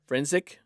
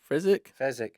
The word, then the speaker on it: Fezzik: And a very large man named Frenzik. Fezzik.